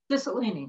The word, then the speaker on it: Cicilline: Cicilline, is that how you pronounce it? Cicilline, okay. I never know whether it should be legit Italian or what, which has just come